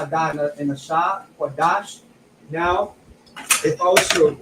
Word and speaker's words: Qadash: It's still pronounced Lashawan. We have a Kwa, a Da, and a Sha, Qadash.